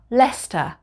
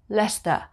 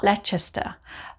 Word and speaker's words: Leicester: with the suffix sister we don't pronounce the c so number 13 would be leicester leicester not lechester like the famous chinatown